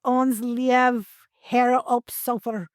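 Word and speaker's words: Ons' Lieve Heer op Solder: It's called Ons Lief Her op Sofer.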